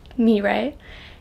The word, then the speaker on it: Mirai: I'm Mirai, pronounced like do-re-mi, Mirai, and welcome back to my channel.